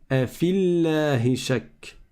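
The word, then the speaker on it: أفي الله شك: Comme le premier soukoun est sur une prolongation, on ne prononce pas la prolongation. Donc on passe directement de la lettre fa à la lettre lem et on dit afillahi shak.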